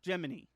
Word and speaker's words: Gemini: He is a little thing in a cage, and his name is spelt Gemini, like the word Gemini, but it's pronounced Gemini, like Jiminy Cricket.